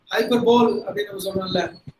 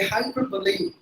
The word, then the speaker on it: hyperbole: Hyperbole is not the right pronunciation. It should be hyperbole.